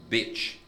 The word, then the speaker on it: bitch: Então, beach, bitch, aqui, beach, bitch, aqui, beach, bitch. Aqui. Agora, o brasileiro, no português, a primeira palavra que é praia, nós pronunciaríamos bitch. I'm going to the beach. E bitch é prostituta, né? É a cadela. I'm going to the beach. E a outra, que é com I, B-I-T-C-H, o brasileiro pronunciaria essa I como beach. Beach porque tem a letra I. E é justamente o oposto.